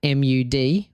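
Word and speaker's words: Mudd: Samuel Mud, Mu D. 1 D. Why specify WD? Cuz people pronounce it different ways, and we need clarity. It's mud, like dirt.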